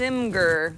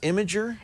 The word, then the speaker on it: Imgur: images you might have heard of it as imer that's how I used to pronounce it it's pronounced imager imager yeah because well that makes more sense